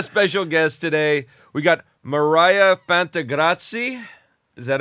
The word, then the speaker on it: Miryha Fantegrossi: We got Mariah Fantrati. Is that how you pronounce it?